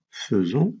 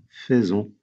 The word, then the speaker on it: faisons: première personne du pluriel on dit faisons et non pas faisons deuxièmement deuxième personne du